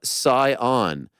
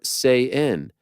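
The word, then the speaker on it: Saiyan: you pronounced it correctly it is pronounced super sa on not super say in do what you will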